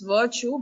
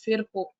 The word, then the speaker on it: Virchow: So English pronunciation is virtue, but German pronunciation is Virchow.